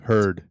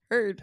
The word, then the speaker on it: Heard: Rhymes with turd. Turd? Bird. Heard. Heard.